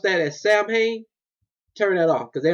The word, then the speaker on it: Samhain: Listen to me. Samhain. Pronounce Samhain. Might spell like Samhain.